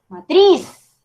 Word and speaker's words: matriz: Yo no digo matriz, matriz, no, no, no, matriz, ¿sí? Entonces, ¿qué pasa? Que en efecto el golpe de voz cae en la última sílaba, pero resulta que no